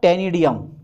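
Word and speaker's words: ctenidium: पहला जो होता है वो होता है टेनिडियम। क्या होता है? टेनिडियम। सीसा साइलेंट होता है। ठीक है? ठीक है? टेनिडियम होता। अब सी साइलेंट होता तो यार सी लगाने की जरूरत क्या थी?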